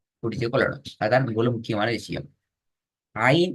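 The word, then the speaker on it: عين: அதான் முழு முக்கியமான விஷயம் ஐன் என்ற எழுத்தை பொறுத்தவரைக்கும் ஐன் அலிஃப் உச்சரிக்கிற அதே ஸ்டைல்ல மேலிருந்து கீழ் நோக்கி உச்சரிக்கப்படணும் ஆனா ரைட் அப்ப அலிஃப் உச்சரிக்கப்படக்கூடிய அதே அமைப்புல தான் ஐனையும் உச்சரிக்கணும் ஆனால் இந்த இடத்துல வந்து நாக்கை தூக்கணும் இப்ப நாங்க அலிஃப் சொன்னோம்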